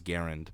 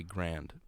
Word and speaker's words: Garand: guy who's made its last name is garand but us american hicks say grand i say i say